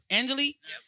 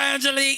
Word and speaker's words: Angelique: gorgeous model looking wife Angelique say it right Angelie oh Angelie yeah yeah yeah yeah